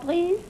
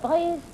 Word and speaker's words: Price: You know, through 20th Century Fox with Monsieur Vincent Prise. Give me that again. With Monsieur Vincent Prise. Would you explain this to me? I didn't get it all. I didn't either. Well, Vincent Price. Price?